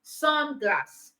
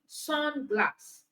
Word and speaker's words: sunglass: So because these compound words are nouns, it means the stress is on the first syllable. So sunglass, blackboard, all right, sunglass, blackboard.